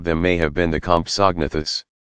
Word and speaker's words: Compsognathus: the smallest of them may have been the Compsognathus pronounced compus AHG nathers which was only about as